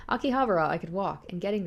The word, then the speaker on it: Akihabara: Akihabara here we go finally said it right Akihabara I could walk and getting there was easy